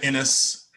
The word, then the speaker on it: Inniss: It's Innis. It's spelled INNISS.